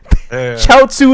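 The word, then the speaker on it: 餃子: i was like oh that's chow soup because chow tsu is how you say gyoza in chinese look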